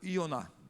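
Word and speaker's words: יונה: Bom dia Jonas então em hebraico Ioná viu Jonas é Ioná a pronúncia e que significa pombo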